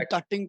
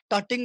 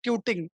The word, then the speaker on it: tutting: नाउ you will see टटिंग right now you will be amazed to सी. At that time Correct. People used to call it like ट्यूटिंग, टर्टिंग. हाँ, टर्टिंग pronunciation बोलते भी थे, सही नहीं था.